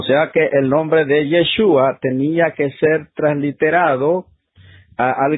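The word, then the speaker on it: ישוע: nombre, pero, se mencionaba, le quitaban una letra y lo pronunciaban así, Yeshu. O sea, era el nombre de él, Yeshua, pero lo pronunciaba Yeshu.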